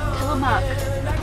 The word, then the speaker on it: Tillamook: Tillamook. We're going into the farm experience right now. BJ's hoping to milk a cow. Where are we? My head. Jessica's eyes just opened. I think the Tillamook Cheese Factory killed BJ.